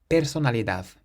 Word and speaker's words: personalidad: Then the next word ends in a D, so again we stress the last syllable. Personalidad.